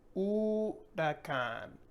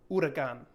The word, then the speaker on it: huracán: Next, we have hurricane in English, and in Spanish, we're going to say huracán, huracán, and not hurricane, huracán, which is very similar to hurricane.